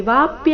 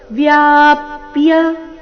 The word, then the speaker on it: ವ್ಯಾಪ್ಯ: ತ್ವೌ ವ್ಯಾಪ್ಯ ಗಮನ ಕೊಡಬೇಕು ಇಲ್ಲಿ ವಾಪ್ಯ ಅಂತ ಇಲ್ಲ ಏನಿದೆ ವ್ಯಾಪ್ಯ ವ ಅಧಿಕ ಯ ಸೇರಿ ವ್ಯಾ ಮುಂದೆ ಪ ಅಧಿಕ ಯ ಸೇರಿ ಪ್ಯ ವ್ಯಾಪ್ಯ ತಿಷ್ಠಸಿ ಇಲ್ಲಿ ಟ ಬೇಡ